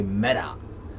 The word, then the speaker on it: Meta: Another one which is interesting, Mark Zuckerberg has announced that Facebook has changed its name to Meta, or as Americans say, Meta.